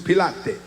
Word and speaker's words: Pilate: The government in this text comprised of Caesar, Quirinius, Pontius Pilot, Pontius Pilate, the Roman government. I like that pronunciation.